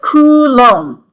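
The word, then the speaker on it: coulomb: number of electrons, and that is called a kulom. Okay? It's lom like it's pronounced like comb at the end. you know a coom m a comb and the cou is coup okay so it's like kom so a bucket of electrons is one kom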